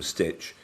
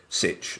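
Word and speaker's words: Sytch: by um two researchers one was called Maxim Stitch Sitch rather and Young H Kim who um sounds like a Korean name.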